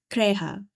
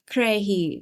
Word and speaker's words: Krahe: as the raven's daughter, Krahe, or Krahi, depending on how you want to pronounce it.